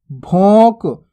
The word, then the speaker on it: भोंक: भोंक। यहां पे भी अनुस्वार की मात्रा लगी हुई है, भोंक। भोंक नहीं पढ़ना, भोंक, यानी कि नाक से भी उच्चारण करना है।